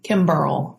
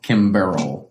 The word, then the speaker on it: Kimberl: Kimberl. Kimberl. Mm-hmm. Kimberl. Like a barrel of bourbon, but Kim in front of it, right?